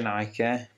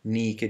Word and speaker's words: Nike: la Nike di Samotracia non si dice Nike Mi raccomando nicchie di Samotracia teniamo Bada La Moderna voglia di inglesizzare ogni parola come dicevo la Nike